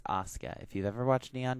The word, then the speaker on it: Asuka: Yes, it's Asuka.